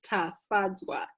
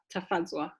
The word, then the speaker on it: Tafadzwa: So the name is Tafadzwa. Tafadzwa. So I pulled it out for the pronunciation, but it's Tafadzwa, which is a Shona name from Zimbabwe, which means we've been made glad.